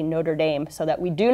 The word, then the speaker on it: Notre-Dame: all we're talking about words that are originally in French so there's the proper French pronunciation but when you're speaking